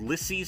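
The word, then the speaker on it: Lisey: a horror series called lissy's story think i'm pronouncing that right l-i-s-e-y lissy's story it's a stephen king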